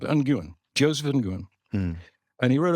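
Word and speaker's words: Nguyen: way to pronounce it some some people apparently pronounce it win-win so it's a win-win situation but I don't think that's generally but it can be pronounced like uan Joseph uan and he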